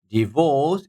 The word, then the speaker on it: divorce: H sound right divorce divorce is like horse horse that would be sound one